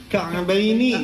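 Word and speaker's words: كعبين: ru'usikum wa arjulakum ilal ka'bain. Ka'baini tadinya, cuman di sini ya mati setelah fathah jadi mad lain. Mad lain jangan 6 harokat, jangan kayak gini bacanya. Ilal ka'bain. Jangan panjang-panjang, cukup 2 harokat aja.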